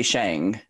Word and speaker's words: Sheng: any so for me i say shang it's pronounced shang as in li shang from the disney mulan that's where i kind of first thought of that being my middle name and it's spelled differently but it's pronounced the same oh whoa wait who